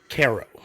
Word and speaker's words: Cairo: a city whose name is spelled Cairo pronounced Caro named after Cairo named